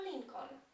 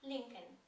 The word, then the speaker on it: Lincoln: że warto wiedzieć iż po angielsku wcale nie wymawiam tego nazwiska jako Lincoln zarówno markę samochodów która tak się nazywa jak i nazwisko tego prezydenta wymawiamy l l tego drugiego l w ogóle tam nie ma linken tak jak mówię W